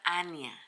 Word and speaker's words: Annya: ¿Cómo se pronuncia el nombre de la bebé? Se pronuncia Ania.